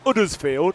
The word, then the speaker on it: Huddersfield: he's from um town it's um town is uddersfield that's pronounced with a u not an Huddersfield and he used to play for the Huddersfield